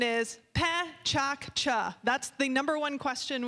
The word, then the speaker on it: PechaKucha: just a really quick little introduction the correct pronunciation is Pat ChaCha that's the number one question we receive is